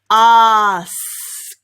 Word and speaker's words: ask: then to practice saying it faster and faster ask ask ask ask ask your team well done